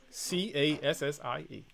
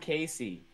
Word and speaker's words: Cassie: it is Scott okay it's Cassie Cassie Cassie yes Cassie not Casey oh okay you're saying